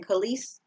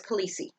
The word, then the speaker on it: Khaleesi: the sea fabrics again you even know how to pronounce it if you watch Game of Thrones I've listened to the audiobook and that's what they called it was Khaleesi I was like okay I